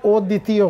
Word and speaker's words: অদ্বিতীয়: হর চিহ্ন দিলাম কেন যে অদ্বিতীয় এখানেও দ এর জোর পড়ে না অদ্বিতীয় অর্থাৎ এখানেও এই